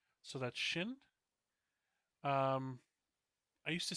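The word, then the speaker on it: Qin: um uh that controlled kind of a unified China. Um, I think I remember that a Q is supposed to be pronounced sh. So that's shin.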